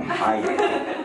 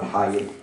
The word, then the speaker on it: Hayek: It's an animated film, and it stars Salman Hayek, who suddenly now is pronouncing the ha in Hayek.